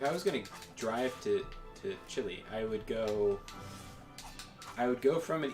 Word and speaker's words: Chile: I'm very cultured, so I don't say Chile. Chile.